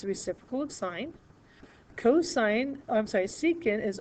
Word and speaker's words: sine: Sine is spelled, we use the abbreviation SIN. It's not sin, it is sine.